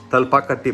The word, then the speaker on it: Thalapakatti: In this episode we will make Thalapakatti Biryani.